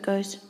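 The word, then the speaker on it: 五: the proper stroke order okay our first stroke goes across and that's up the top next we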